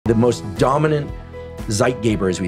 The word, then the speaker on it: Zeitgeber: light is the dominant Zeitgeber, called Zeitgeber because the people who defined this were German. And I'm pronouncing it incorrectly because I don't speak German.